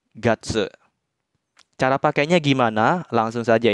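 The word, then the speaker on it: 月: Jadi cara baca kunyominya untuk kanji bulan sedikit minasang, cuma satu, yaitu tsuki. Untuk ongyominya ada 2, yaitu getsu dan gatsu.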